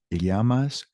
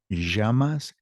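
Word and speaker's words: llamas: these first three questions that Double L is not a Lamas Yas it's with a why and depending on the country pronunciation can shift it could be yamas jamas and just a simple y yamas now the answer May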